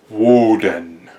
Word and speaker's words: Woden: He is the All-Father, he is the chief of the gods, and his name is Woden.